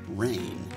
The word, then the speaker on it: reign: way that it's spelled it's not like rain water from the sky but it's rain it sounds the same but it means to